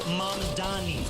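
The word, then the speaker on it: Mamdani: Furthermore, the name is Mandani.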